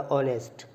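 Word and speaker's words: honest: यहां पर H silent है। तो कौन सा दे रहा? ओ अपनी साउंड दे रहा ऑनेस्ट।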